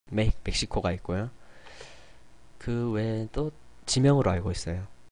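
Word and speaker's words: México: 이런 식으로 발음이 됩니다 하지만 예외적으로 멕시코 나라 이름이죠 멕시코에서는 히읗 럼 발음이 된다는 거 예 멕시코만 거의 그래요 뭐 간혹가다가 어 다른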